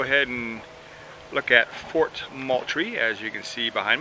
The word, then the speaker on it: Moultrie: ways of saying that I've heard multi a I've heard ma try but the locals say Moultrie so that's what I'm